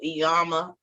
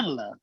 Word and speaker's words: Iyanla: I saw you talking about I always say her name wrong. I'm one of those people. Iyama, Iyana, whatever.